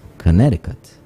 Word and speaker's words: Connecticut: Connecticut in quotes Connecticut isn't it the sea that is silent no it's Connecticut ah yes yes yes yes yes you correct that's right it's the second C that's right Cola see